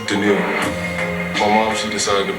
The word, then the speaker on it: Danielle: A lot of people tend to say Danielle, but it's pronounced Danielle.